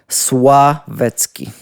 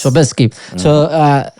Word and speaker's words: Sławecki: like how you pronounce it? What about the surname? Slavecki. Sławecki. Yes. Sławecki.